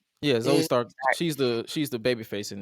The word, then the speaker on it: Zoe Stark: had me laughing, especially with what's her name, Zoe Stark. Did I say it right? Yeah, Zoe Stark.